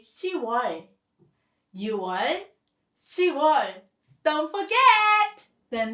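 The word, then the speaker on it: 시월: 10 is 10, so it should be 10월 technically. But again, it is a little bit hard to pronounce, so Korean remove pi읍 and you say 10월.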